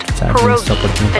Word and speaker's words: pierogi: Did I pronounce that right? It's pronounced pierogi, a tasty dish like dumplings.